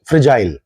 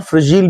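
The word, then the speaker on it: fragile: English में बोलते हैं फ्रेजाइल. इसको फ्रेजाइल भी बोला जाता है और फ्रेजील भी बोला जाता है. अमेरिकन प्रोनाउंसिएशन है फ्रेजील.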